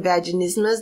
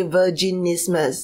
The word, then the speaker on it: vaginismus: uh and is they they will call it ver instead of saying vaginismus they will say virgin ismus so it it is